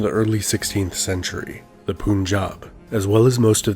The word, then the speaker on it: Punjab: Now we know it's pronounced Punjab. Yeah, he's saying it wrong.